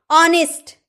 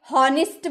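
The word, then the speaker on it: honest: ऑनेस्ट आपने कभी हॉनेस्ट बोला है? बचपन में जरूर बोला होगा आपने हॉनेस्ट। क्योंकि आपको पता नहीं होगा कि एच चुप रहता है, साइलेंट रहता है।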